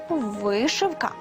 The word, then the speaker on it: вишивка: вишитий на чому-небудь візерунок правильно буде вишивка та вишивання ви на небо грай